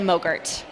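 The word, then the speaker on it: MOGRT: file extension mo GRT what the heck is a mo Gert rhymes with yogurt not yogurt although that sounds pretty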